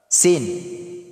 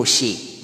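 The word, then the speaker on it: سَ: Sin. Litra na sin, maftuha. So, paano po bigkasin ang sin? Si. Hindi po shi. Magkaiba po ang shin at saka sin. Ito po ay si.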